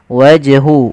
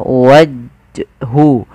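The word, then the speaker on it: وجه: yang mana qqal artinya dia memantul harus dipantulkan waj wajhu wajhu Sama kesalahannya tidak boleh apa yang pertama tidak mantul itu kesalahan wajhu yang kedua menambahkan Hamzah waju waju ini nambah kemudian hya harus diperjelas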